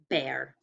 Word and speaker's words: bear: This one is bear. I saw a scary bear in the woods. Bear. Okay, check it with me when you're ready. It's EA, like steak.